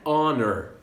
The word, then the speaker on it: honor: An honor. An honor. Uma honra. Então honor, ela começa com H. Só que eu não pronuncio esse H, eu pronuncio direto o O.